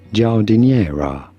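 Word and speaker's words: giardiniera: the heck do you say it simply say jera jera jera is an Italian relish of pickled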